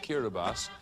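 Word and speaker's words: Kiribati: says kirati on your screen but it's actually pronounced kirbas these are actually the Gilbert islands in the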